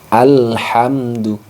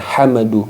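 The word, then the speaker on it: الحمد: ini juga sama jadi pada hamdu itu tidak boleh mimnya juga dipantulkan hamadu Nah itu biasanya seperti itu Jadi harus dibaca jelas Mim sukunnya alhamdu alhamdu Kenapa demikian karena ini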